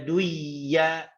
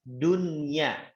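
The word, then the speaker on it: دنيا: Nggak boleh bacanya buyanun, nggak boleh bacanya ya duya, nggak boleh, harus dunya, tidak boleh duya, itu ya teman-teman ya.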